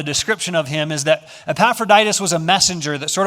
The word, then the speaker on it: Epaphroditus: probably like i have no clue how to pronounce that that name is epaphroditus and then we have this group of people